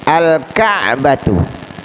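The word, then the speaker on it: الكعبة: Al-Ka'batu, al-Ka'batu, kafnya termasuk huruf qamariyah. Cara membaca lamnya dibaca dengan jelas.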